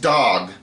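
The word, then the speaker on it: דג: You notice the the word for fish is dog. is it's spelled dolllet gimo. Okay, but it's pronounced dog.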